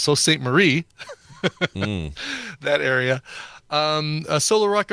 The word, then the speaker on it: Sault Ste. Marie: I know that it's pronounced Sault Ste. Marie.